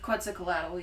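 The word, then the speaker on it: Quetzalcoatl: mythology which was that which was their God a quiz cadle did that pronounce that correctly I believe qu cadle yeah okay see I did better on the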